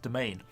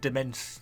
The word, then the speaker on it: demesne: look this word up it's actually supposedly pronounced domain I've always been trying to pronounce it demesne knee or something like that but domain swordsman upon